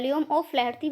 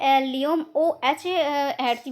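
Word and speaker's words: Liam O'Flaherty: को मिल सकता है, लियोम ओ फ्लैर्थी भी देखने को मिल सकता है, या फिर लियोम ओ एच हैर्थी भी आपको देखने को मिल सकेगा। दोनों ही नाम से इनको प्रोनाउंसिएशन किया जाता है।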